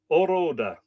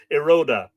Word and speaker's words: Eroda: And the hound whelp I claim is the hound whelp of the king of Oroda. Eroda. There is a long word and there's a short pronunciation. Eroda.